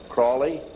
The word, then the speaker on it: Crowley: learned about with aleister crowley he likes to be have his name pronounced crowley to rhyme with holy and uh the satanists